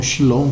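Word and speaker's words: שלום: judeu faz sempre é o shalom ou chilom, como eles chamam, né? Como eles pronunciam, que é a paz de Deus.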